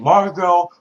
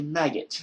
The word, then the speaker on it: Margot: I can say her name, Margot Robbie. Before you used to say maggot because you fucking forgot the R.